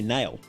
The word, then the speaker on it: Nail: If you said my name right in the first try, most most people say Neil instead. That's clearly nail.